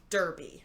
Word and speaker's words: Derby: it's one of my favorite ones but it's derby and it's about what we're referring to the